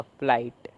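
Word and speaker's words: flight: तो इसीलिए यहाँ पर भी जो जी एच है वो साइलेंट है, क्यों, क्योंकि जी एच के बाद टी है। तो फ, फिर लाई, फिर टी। जो टी है इसका ट, तो क्या बना फ ला ई ट, फ्लाइट।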